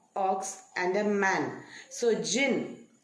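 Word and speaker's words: djinn: and a man so jin it's d j i double n but it the d is silent so it is pronounced as jin jin is another word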